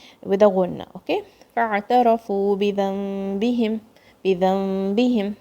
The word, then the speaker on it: فاعترفوا: Now see, fa is joining with the ayn. Fa. Okay, not فاعترفوا. Don't say it like that. فاعترفوا. Ra is heavy.